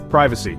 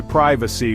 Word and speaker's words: privacy: Privacy. Americans say privacy while Brits say privacy.